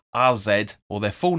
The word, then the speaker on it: AZ: welcome AZ Al Kumar or as they're pronounced RZ or their full name